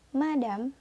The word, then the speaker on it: madame: yang dibacanya mesiu mesiu yang kedua dibaca madam Hai nadam dan yang